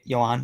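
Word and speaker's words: Yoán Moncada: in he's gonna play this spot like is yawn moncada right Johan that's how you pronounce it he was the number one Prospect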